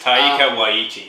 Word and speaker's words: Taika Waititi: I can't pronounce it right, but it's Taika Waititi.